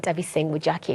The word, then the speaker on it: Nthabiseng Mojaki: And to unpack all this and more is director of Paleho, Lebo Leisa, and Nthabiseng Mojaki, who plays Manoko in Paleho.